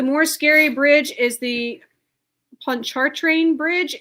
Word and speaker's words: Pontchartrain: And Heather Lee says Pontchartrain is how you pronounce it.